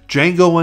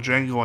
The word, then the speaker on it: Django: film in my collection, Django Unchained from 2012. It's directed by Quentin Tarantino and stars Jamie Foxx and Christoph Waltz. That's spelled D-J-A-N-G-O, the D is silent, as Jamie Foxx's Django